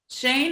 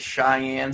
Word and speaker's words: Shane: yeah surprise would i the pronunciation part is important cause i get cheyenne sometimes i've got she sean's the usual one so you know i